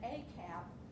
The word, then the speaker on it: AKAP: little bar over here called akap um we pronounce that AAP it stands for ayas